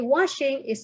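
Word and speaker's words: washing-i: But in spelling it, okay, washing is an English word. You add an affix, a suffix I, which is waray. You have to separate it with a hyphen. However, you pronounce it as washingi.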